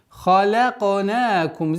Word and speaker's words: خَلَقْنَاكُمْ: خَلَقْنَاكُمْ. Здесь у нас правило калькаля и ха, твердое произношение. خَلَقْنَاكُمْ.